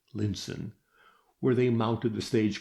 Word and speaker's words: Lion's Town: and so on to Lion's Town pronounced Linson where they mounted the stage coach which was to take them across the Moore to Camelot.